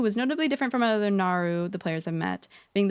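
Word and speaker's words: Naaru: But anyway, so the Naru, it's pronounced Naru, is a race of living sentient energy beings made up of scintillating holy energies.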